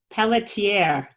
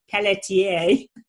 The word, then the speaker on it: Pelletier: Pelletier. And I meant to ask you, Kenneth, how to pronounce that properly. Is it That's Pelletier? the good French pronunciation. What's that? That's the very good French pronunciation.